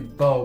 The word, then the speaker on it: Bow: Okay, so I think her name is Bo, because I did pronounce it Bao because I'm not even